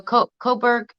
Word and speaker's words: Cobourg: No, Coburg. Coburg is Can I type in the chat? Coburg. Coburg is spelled this way: Cobourg. Coburg.